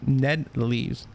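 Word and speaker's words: Ned Leeds: Ned Lees.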